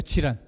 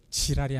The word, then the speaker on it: 질환: 질환. 발음 잘하셔야 돼요. 지랄이 아니라 저는 그래서 이거를 보면서 우리가 질환으로 들어갈 수도 있겠지만 질알로 들어갈 수 있겠다.